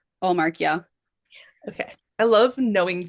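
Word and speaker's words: Ullmark: I think really the star there and the star really it's going to be the goalie Olmark if he plays. Is that how you say his name? Allmark, yeah.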